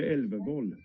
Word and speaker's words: Elvervoll: I've been calling him Elvervol, but I think you've probably better pronunciation than me. Viga Elvervoll. So you're not far off. You're not Viga.